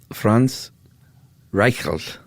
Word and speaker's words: Franz Reichelt: Franz Reichelt.